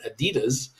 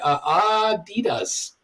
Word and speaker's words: Adidas: It was what we used to call it Adidas.